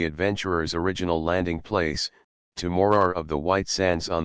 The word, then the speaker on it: Morar: flat Shore in the direction of morar 111 pronounced morar no one could accuse major Keith wendam of